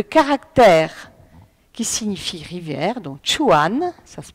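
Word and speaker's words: 川: Par exemple, le caractère qui signifie rivière, donc chuan, ça se prononce, hein, rien n'indique qu'ils doivent être prononcés ainsi.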